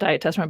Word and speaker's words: Diatessaron: Do you want to explain what the diatessaron, I pronounce it diatessaron, but diatessaron, what that is?